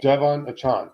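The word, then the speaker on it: De'Von Achane: Devon Achan. The what? Devon Achan.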